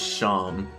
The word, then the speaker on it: Seam: Seam. Don't have anything better to do? How about yourself? The name's Seam, pronounced Shawn.